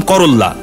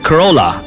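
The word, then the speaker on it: Corolla: করোল্লা মানে উইস্তা তিতা আমি বলতাম করোল্লা কারণ ওই যে দুইটা ল এল এল আছে পরে দিকে ওরেল্লা এটা করোল্লা না খরোলা দুইটা লেটার যদি পাশাপাশি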